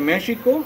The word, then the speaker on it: México: pronunciar de esa manera, como la palabra México es con J y la seguimos pronunciando como la escribimos. Bueno, la pronunciamos con J, la escribimos con X. Correcto. De hecho, se debe pronunciar México, aunque dijimos México.